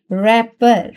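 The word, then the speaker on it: wrapper: तो यहां पर देखें रैपर। रैपर। अब यहां पे डब्ल्यू जो है प्रोनाउंस नहीं हो रहा।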